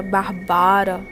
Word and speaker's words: Bárbara: nossa história essa barba a verdade se pronuncia Bárbara Natasha e para que até